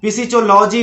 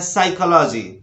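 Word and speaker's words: psychology: तो English pronunciation के अनुसार पी के बाद एस या एन जब भी लगा हो तो उस समय हमें क्या करना चाहिए, उस समय हमें पी का उच्चारण नहीं करना चाहिए, यानी पी लेटर को साइलेंट रखना चाहिए। जैसे इसको फिजियोलॉजी बोलना बिल्कुल गलत है, इसको बोलना है साइकोलॉजी, साइकोलॉजी।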